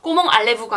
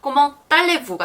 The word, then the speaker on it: comment allez-vous: 그래서 꼬멍이 굉장히 많이 나오기 때문에 또 외워두시면 좋고 단어 마지막에 t가 오고 그 다음 단어에 모음이 오면 항상 연음이 돼요. 그래서 꼬멍 알레부가 아니라 꼬멍 딸레부가 되는 거예요.